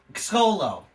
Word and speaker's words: Xolo: try maraduna marijuana okay so I'm I'm gonna say his name at its as it's spelled it's x-o-l-o so his name is solo the exolo it won't